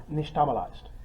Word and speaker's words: nixtamalized: Hominy is nixtamalized corn. Yeah, Okay. yeah. I pronounced it wrong, didn't I? You were close, actually. Yeah. I'm bad for Brit. How do you pronounce it? Nishtamalized. Nishtamalized.